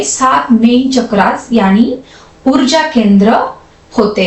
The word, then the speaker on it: चक्र: पर अंग्रेजी बोलने वाले लोग चक्र को अक्सर चक्र बोलते हैं क्योंकि वे अंग्रेजी प्रोनाउंसिएशन रूल्स के अनुसार शब्दों को पढ़ते हैं। असल में संस्कृत या हिंदी में हम चक्र बोलते हैं।